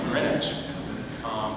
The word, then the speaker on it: Greenwich: not a native, but now I hear people say Greenwich or Greenwich, and it drives me crazy. I'm like, Greenwich.